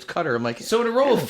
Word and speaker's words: Qatar: I I It seems like it should bear if you feel like that's an American way to pronounce it, but everybody corrects like it's cutter.